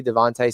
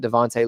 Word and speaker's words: DeVonta: We've never seen what Devontae looks like. Devonta, I guess is how I should say his name.